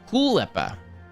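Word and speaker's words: Kaulquappe: German dialect for tadpoles, Kuhleppe. Because the hard K and the U not being U, but more like ooh. I don't know how to say UI. Kuhleppe.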